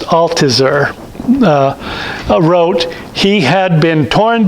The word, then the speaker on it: Althusser: For a decade before this, and I think it's pronounced Althusser, wrote, he had been torn between the interior certainty of the death of God in modern history.